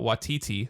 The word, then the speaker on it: Waititi: Jodie Comer, Joe Keery, Lil Ray Howery, Taika Waititi.